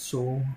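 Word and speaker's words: SOVL: I think you still pronounce it soul.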